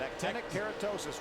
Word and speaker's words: actinic keratosis: It's actinic keratosis, is that right? That's exactly right. Actinic keratosis, Ray.